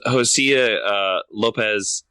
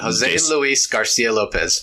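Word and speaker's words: José Luis García López: yeah because it is those Hosea Lopez I can never say his name right is a Jose Lopez Garten is hello me out Jose Luis Garcia Lopez yeah so there you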